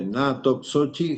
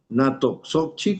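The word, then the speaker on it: Natoxochi: bueno, que se llama Natogochi, se escribe Natoksochi GSM, o sea, Natoksochi con X GSM.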